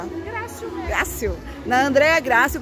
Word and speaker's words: Grácio: É, como se pronuncia? Grácio mesmo.